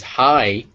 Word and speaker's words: height: their vowels are completely different so height is height eight is eight they both have those double